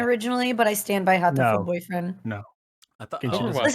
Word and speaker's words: Hatoful: I would say Hatoful Boyfriend.